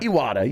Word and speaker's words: Iwata: Iwata, yes.